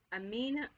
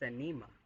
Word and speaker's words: Anima: Amina, I'm saying it wrong. It's anema. Okay? Or enema. Enema. It's not enema. Anema. Let's go with anema.